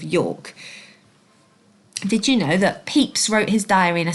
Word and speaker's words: Pepys: And also, it's pronounced Peeps. It's spelt slightly differently than it sounds.